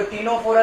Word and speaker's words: Ctenophora: Spelling में मैंने सी लिखा है और फिर लिखा है टीनोफोरा, तो यहाँ पे सी साइलेंट है।